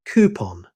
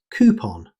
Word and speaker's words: coupon: Our next word is coupon. In American English, most native speakers say coupon, using a long ooh sound. You'll also hear coupon, particularly in British English. Both pronunciations are widely accepted.